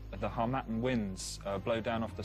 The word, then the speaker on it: harmattan: believe that it's the harmattan winds blow down off the Sahara so wind okay you seem to know the pronunciation better than me as well the harmattan is it and it's the right